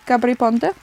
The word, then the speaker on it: Gabry Ponte: She pronounced the same way I did, Gabry Ponte.